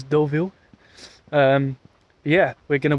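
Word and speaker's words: Deauville: we are here in what I would call DeVille but I think it's probably pronounced doville at least that's what the Google Maps lady says doville um yeah we're going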